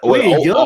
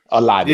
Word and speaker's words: Olave: I don't want to mispronounce his name. I yield all my time to Senator Tuck. What? Olivet. Oh, come on, bro. What, Olave? Olave.